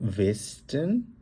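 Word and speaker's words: Westen: নাখ জুডেন মানে হচ্ছে সাউথ, নাখ ওস্টেন মানে হচ্ছে ইস্ট, নাখ ওয়েস্টেন, এটাকে আমরা যেহেতু ডাব্লিউ, আমরা জার্মানে ডাব্লিউকে আমরা বলি হচ্ছে ভে এর মতো উচ্চারণ করি, আমরা বলবো নাখ ওয়েস্টেন মানে হচ্ছে ওয়েস্ট, নাখ নর্ডেন, নর্ডেন হচ্ছে নর্থ, নাখ ডয়েচল্যান্ড।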